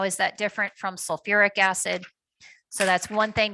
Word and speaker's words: sulfuric: But instead of sulfic, again, just in the acids, we say sulfuric. So it brings in that extra syllable.